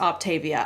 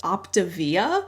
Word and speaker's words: Optavia: in this i have always thought it was pronounced octavia i have always said it that way i've